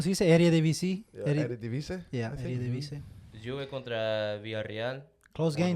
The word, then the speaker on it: Eredivisie: Yeah, Eredivisie.